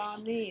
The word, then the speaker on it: Marneen: Am I pronouncing your name right? Yes, Marneen.